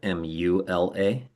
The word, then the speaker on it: mula: Moola is the root and that's either m o l a or sometimes it's spelled m u l a. Yeah. So mu la.